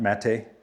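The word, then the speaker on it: Maté: by Gabbor Mate, Matt Mate, I think is how you pronounce it.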